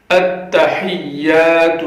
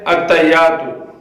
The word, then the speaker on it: التحیات: پڑھ کر بتاتے ہیں۔ التحیات للہ، کئی لوگ پڑھتے ہیں التحیات، یعنی ہا کو نہیں پڑھتے، ہا کو یہاں پہ واضح کرنا ہے۔ التحیات للہ والصلوات والطیبات